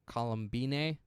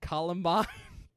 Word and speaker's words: Columbine: Dominique Othenin-Gerard, so the director, he's also written Columbine. That's how I'm going to pronounce that, and not Columbine, because it is Okay. not about that.